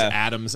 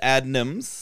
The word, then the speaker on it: Adnams: When I first thought, I thought it was Adams. I don't know. It's Adnams.